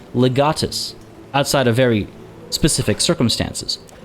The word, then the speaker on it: legatus: asia nope it's asia legate nope it's legatus outside of very specific